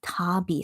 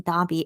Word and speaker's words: Davii: His name is Tabi. So Tabi in Korean, but in English it's spelled Davii. So it's more like Tavi, I guess, in English. But I'll just go by his Korean pronunciation, Dabi.